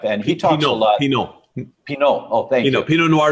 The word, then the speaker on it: Pineault: That's how he told me to remember his name, because it's spelled Pineault. You're right, it's Pinot, like Pinot Noir.